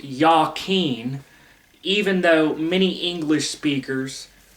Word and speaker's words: Jachin: so it's properly pronounced Yen even though many English speakers mispronounce it as jaen there there is no J in Hebrew just like many people